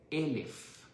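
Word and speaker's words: אלף: Se dice elf, que es igual que la letra alef. Alef y elf se escribe de la misma forma.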